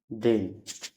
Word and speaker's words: deign: यानी ई आई के बाद GH या GN रहेगा तो ई आई का उच्चारण ए होगा। जैसे WEIGHT वेट, DEIGN डेन।